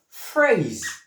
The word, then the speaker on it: phrase: So we have phrase. Mhm. also common word. P H R A S E. Phrase. Can you pronounce it?